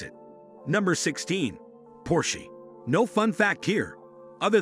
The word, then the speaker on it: Porsche: Eventually Porsche became fed up with people mispronouncing their brand name, that they uploaded a